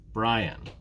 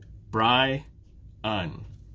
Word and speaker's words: Brian: My name has 2 syllables. Brian. Bri-un. 2 syllables. Take is just 1 syllable. Take. So in my name, which syllable is stressed? Think about it for a minute. Brian. Brian. It's the first syllable.